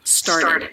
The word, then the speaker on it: started: a d started started the ed ending when it makes an extra syllable is always unstressed star did did so